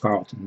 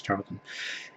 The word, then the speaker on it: Charlton: A lot of gold keys, which I love collecting, and Charltons, which I all my life have pronounced Carlton, but I know it's Charlton.